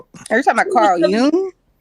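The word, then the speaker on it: Jung: It's called Yung, but go ahead.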